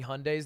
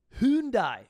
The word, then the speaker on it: Hyundai: 10 years or so hyundai it's hyundai the company's wrong the koreans are wrong they don't know how to say their own company shocking sad korea can't